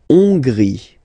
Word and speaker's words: Hongrie: La Hongrie. So remember, H doesn't exist, so you don't pronounce it. So it starts with O-N, on, and then gris, final E, not pronounced.